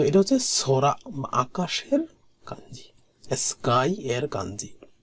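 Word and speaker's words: 空: তো এটা হচ্ছে সরা, আকাশের কাঞ্জি, স্কাই এর কাঞ্জি। তো এটার উচ্চারণ হচ্ছে সোরা।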